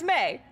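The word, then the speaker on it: Mai: that would make sense but it's pronounced May and it's just it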